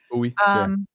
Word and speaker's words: Bowie: Buoie, Buoie TV. And you know what they do to us there with the Maryland pronunciations.